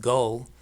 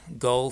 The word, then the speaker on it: Galle: And, when I traveled to Sri Lanka 6 years ago, we stayed in, I think it's pronounced Galle, but it's spelled Galle, so Galle or Gal.